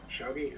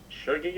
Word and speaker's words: shogi: There is a common misconception that Crazyhouse descended from shogi, I believe it's pronounced, but though that is not in fact correct, it's undeniable that Crazyhouse and shogi share the same principles.